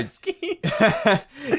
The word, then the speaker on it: tzatziki: Tzatziki, like yeah, Zatsky. Yeah, the T is silent.